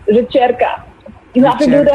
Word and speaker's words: Ricerca: So It's pronounced ricerca.